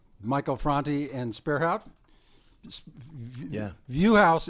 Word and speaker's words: Vuhaus: Viewhouse is spelled Vuhaus. I never would have got that right. Sounds German, right?